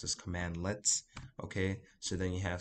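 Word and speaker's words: cmdlets: to see something that's spelled c-m-d-l-e-t-s this is pronounced as command let's okay so then you have some that are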